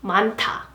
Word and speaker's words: 많다: A lot of, and its pronunciation is 많다, 많다, 많다.